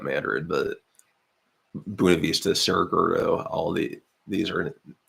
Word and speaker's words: Buena Vista: is also Iowa County buav Vista which I pronounce it not Spanish Le um but we